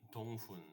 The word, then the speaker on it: Donghun: everyone listening to uh it's just tongun that's how like Korean like spelling is like tongun is perfectly fine cuz I know it's